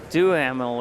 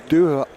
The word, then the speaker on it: Duhamel: I think it's Duhamel or Dumel. Yeah. Dumel.